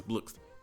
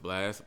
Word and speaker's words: Blxst: Our runner-up is Blxst. And yes, I know it's pronounced Blxst, but I like saying Blxst.